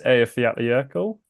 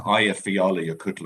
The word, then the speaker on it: Eyjafjallajökull: So it's the Eyjafjallajökull or something similar to that.